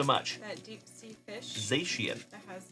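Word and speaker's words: Zacian: That's Oh, it's pronounced Zashian. Thank you so much. That deep sea fish Zian that has like the little light in front of its head.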